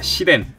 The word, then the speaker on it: 시덴: 자 다음 빠밤네 시입니다 시덴 이응으로 하시면 쌍과 이응 발음하시면 안 됩니다 시입니다 철혈의 오펀스의 새로